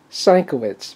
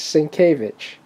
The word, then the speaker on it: Sienkiewicz: Batman by Bill svich for many years I pronounced it sanitz but uh he corrected me it's svich so there you go nice Batman from original